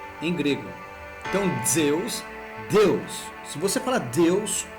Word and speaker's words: Zeus: Só que a palavra Zeus, em grego, a pronúncia dela é similar à nossa em português Deus.